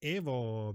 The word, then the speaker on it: Evo: said it completely correctly it's Evo because it's Italiano um we that's also